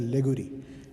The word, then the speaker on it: Laguerre: And fourth one is known as Laguerre. This is Laguerre. Laguerre. This is pronounced as Laguerre.